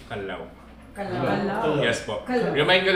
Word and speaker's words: Callao: Ay ano ang tamang pag-pronounce po sa po sa name ng cave po ay kalaw.